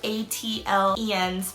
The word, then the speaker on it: ATLiens: A lot of people don't know how to pronounce this, and it is ATLIENS because they are from Georgia.